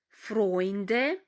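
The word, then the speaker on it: Freund: жіночого роду differening подруга запам'ятаємо що ета у читається разом як ой хой льойте бойтель фронт фройнд твоя это у ми читаємо як ой і ще раз повернемося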